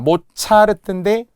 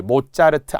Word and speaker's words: 모차르트: 마오쩌둥이 했어 마오쩌둥 자 모차르트 역시 된 소리 모자르트 안 되고요 미스터리를 미스테리라고 하는 분들이